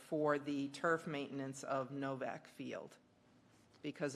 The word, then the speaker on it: Nowak: It's spelled with a W, but it's pronounced. Oh, with it's the- pronounced, it is spelled with a W, but it's Yes. pronounced Novak.